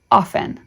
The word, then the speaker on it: often: t n is pronounced often both the T and the E are silent lesson 48 the letter